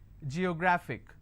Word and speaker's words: geographic: a look at it Geographic how many syllables do I have G yo graphic and the rule says if I have a word ending with IC I need to stress on the second last syllable so I'll